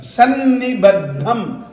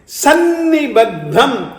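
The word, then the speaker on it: सन्निबद्धम्: फिर से देखें, त्वत् संस्तवेन भव संतति सन्निबद्धम। संयुक्त अक्षर को बोलने के लिए सन्निबद्धम, स के ऊपर थोड़ा सा जब आप जोड़ देंगे, सन्निबद्धम।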